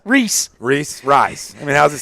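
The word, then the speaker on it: Rhys: I botched his name 12 times the first 12 times I saw him. So Reese Hoskins.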